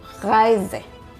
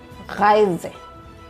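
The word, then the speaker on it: Reise: The German R is pronounced from the throat and not with the tongue R. Example in a word rise. Rise.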